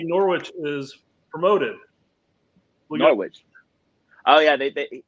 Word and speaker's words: Norwich: Before we get to the Brooks questions, first, Brett, you mispronounced Norwich. It's Norwich, by the way.